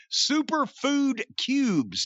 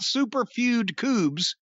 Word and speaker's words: Super Food Cubes: the syllables in here super food cubes not super feud cubes but super food cubes